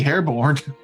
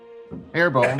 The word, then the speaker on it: Hairbone: Yeah, it used to be Hairborn, now it's Hairbone.